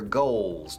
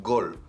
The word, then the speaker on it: goal: Your goals, tus metas, tus objetivos, your goals. Es decir, tu goal se pronuncia goal y se alarga. Entonces es gol, como gol. No, goal.